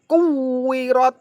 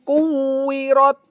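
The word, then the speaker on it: كُوِّرَتْ: Ini kan aslinya wawunya dobel, Lur. Berarti ditekan ya, Lur ya. Kuirot. Begitu. Baik, saya ulangi. Idyamsu quwirot.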